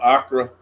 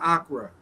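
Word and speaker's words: Accra: Is is that Am I pronouncing it right, Tumani? Yeah, I'm pretty sure it's AC c a Okay. Acra.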